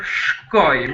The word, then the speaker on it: shkoj: And we have the verb shkoj, which so the difference is just one E, Albanian E there, and it's very important how you pronounce it.